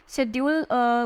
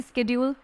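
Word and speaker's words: schedule: इसके ड्यूल ठीक है शेड्यूल बोलते हैं कुछ लोग लेकिन शेड्यूल होता है इसका प्रनंसीएशन ठीक है फिर जो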